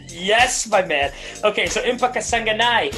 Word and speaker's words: Impa Kasanganay: my man okay so empaka sanganai is going to be the kind of guy that's how you say it i'm i'm certain of it i've heard i've seen him fight enough i think uh that's the way you know we're all going with it until he corrects us